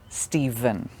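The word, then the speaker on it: Stephen: exception is a name a boy's name steven which can be spelt with the letter v but can also be spelled with the letters p h but both have the sound steven steven but let's get back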